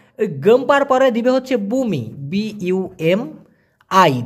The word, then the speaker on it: bumi: ওই যে ভূমিকম্প হয় না, তো ওরা ওই গম্পার পরে দিবে হচ্ছে বুমি, BUMI, ভূমি কিন্তু না, বুমি, উচ্চারণটা হবে বু মি।